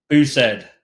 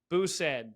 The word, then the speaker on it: Bousaid: I don't want to mess it up man booed booed okay yeah you'll notice has a thick